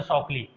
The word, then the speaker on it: Shockley: एक जो बंदा था ना उसका नाम था शॉकली, समझ, शॉक लगा हुआ नहीं, स्पेलिंग वही हमका जाता रहेगा सेम, लेकिन इसको